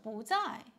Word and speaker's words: 不: If the next syllable, yeah, is a falling tone, yeah, like 在 here, 在 is a falling tone,不 will change to a rising tone. So, 不在 Okay, 不在家 Yeah, not at home.